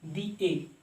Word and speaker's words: the: दी AC, sorry, दी ए pronunciation कर रहे हैं ना, तो दी एसी, दी ऐसे बोला जाता है, ठीक है।